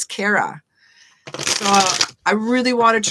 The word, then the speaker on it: Cara: pronounce my name wrong people say cara and it's kara so i really want